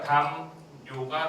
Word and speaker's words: 담요: 담, 요가 되고 있었네요. 담 플러스 요가 되고 있었던 부분이었었죠? 그런데 앞말이 뭐로 끝났어요? 미음으로. 뒷말이 뭐가 되고 있었어요? 네, 요예요. 그래서 발음은 어떻게 되고 있었다고요? 담요.